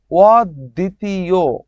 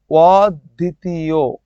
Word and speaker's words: অদ্বিতীয়: হ্যা বনচিত বন চিত ভর সা ভর সা ভর সা অদ্বিতীয় অদ্বিতীয় অদ্বিতীয় অধ্যক্ষ লক্ষ অধ্যক্ষ এইযে দেখো অদ্বিতীয় ব ফলা থাকায় দটা দুইবার হয়ে গেছে আচ্ছা ভাইয়া আপনি বলছিলেন ওর পরে যদি রসকার দীর্ঘকার আসে তাহলে ওটা ও হয়ে যায়।